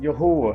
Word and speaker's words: Yahuwah: live all right uh this tetragrammaton is yahuwah it's pronounced yahoo it is not translated